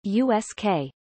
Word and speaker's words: USAKA: Army Kwajalein Atoll, or USAKA, pronounced USK.